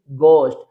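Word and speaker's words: ghost: हमें स्टार्ट मिलता है जी एच से तो याद रखें वहां पर भी एच लेटर साइलेंट होता है जैसे जी एच ओ एस टी गोस्ट next है जी एच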